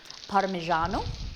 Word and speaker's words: Parmigiano: it parmesan is it wait how do you pronounce it molly we say parmesan but like in italian it's parmesan parmigiano so i suppose it's closer to you're saying